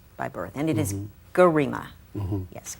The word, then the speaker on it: Gerima: You're Ethiopian by birth, and it is Gerima. Yes, Gerima, I want to say it properly.